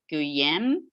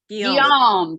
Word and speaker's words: Guillaume: and the chancellor, Guillaume, not sure how to pronounce William, Heather, help me out. Guillaume Juvenal des Ursins. Guillaume, thank you.